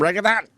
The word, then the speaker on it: reggaeton: Is it some reggaeton? They probably sneak in some reggaeton. Reggaeton? I don't know, I think it's reggaeton. Reggaeton. There you go. No, you don't say it like that. Reggaeton.